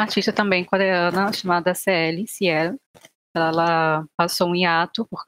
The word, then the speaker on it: CL: E vou citar uma artista também coreana chamada CL, Ciel.